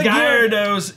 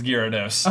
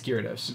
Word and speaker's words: Gyarados: school and oh the Gyarados ex you're right I said it wrong it's Gyarados okay I was like